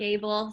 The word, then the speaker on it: Abel: And my name is Abel, like the word Abel.